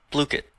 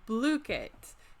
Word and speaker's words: Blooket: to pronounce this one but they have a pronunciation right here blue kit oh blue kit so it's a cute little gaming platform where